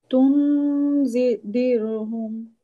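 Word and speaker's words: تنذرهم: তুনজিরহুম। তুম, নুনের উচ্চারণ করবো না, হ্যাঁ, একটা গুম তুম এরকম হবে, হ্যাঁ।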